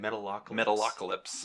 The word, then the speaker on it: Metalocalypse: Metapocalypse. How do you say it? Metalocalypse.